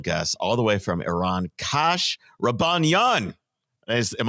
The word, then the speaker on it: Iran: already screwed up Jake okay Iran not Iran Iran is something you do I say Iran didn't